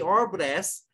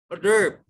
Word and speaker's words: hors d'oeuvre: the pronunciation of course the orb dress is other pronounced hors d'oeuvre no mommy i discuss